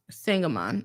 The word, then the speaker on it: Sangamon: No, by the way, kind of rhymes with Hangamon. Oh, Hangamon. Interesting. Sangamon.